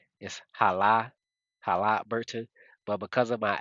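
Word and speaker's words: Haliburton: Like, if I was to like I got to pause when I say his name, if I say it correctly, Hala Burton.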